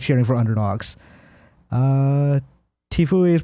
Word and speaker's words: Tfue: Tfue is pronounced Tfue.